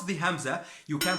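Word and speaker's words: ء: how to pronounce the Hamza, you can pronounce a great deal of words in Arabic. So the Hamza, it's as if you are stopping on a syllable.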